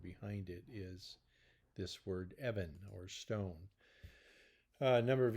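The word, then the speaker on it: אבן: the first word is the word I'll just pronounce it for you it's the word Evan and it's almost exclusively translated in our Bibles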